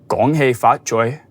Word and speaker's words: fat choy: Foy, that's what I said. No, you said foy, not fat choy.